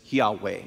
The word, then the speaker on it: Yahweh: as it's called but you and I would pronounce it as Yahweh Yahweh Yahweh or or something like that the